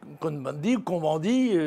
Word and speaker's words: Cohn-Bendit: Monsieur Cohn-Bendit, puisque nous sommes en France, on le prononce à la française.